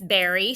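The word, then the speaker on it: bury: This berry, spell it, B-U-R-Y.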